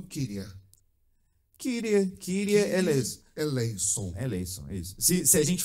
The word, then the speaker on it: Kyrie eleison: Kyrie eleison. Ai, meu Deus, que é grego. Kyrie eleison. E que eleison é uma pronúncia moderna.